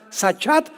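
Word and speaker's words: שחת: La palabra corromper también es importante porque la palabra hebrea sachat se escribe con S Samuel y CH, como suena sachat con T de tío al final.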